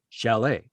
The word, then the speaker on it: chalet: not and uh and I would say shalet and she's like yeah shall I was like but there's a tea at the end you're not saying the tea yeah it's there and I'm like where do you hear sh where do you hear the T in Chalet and she's like no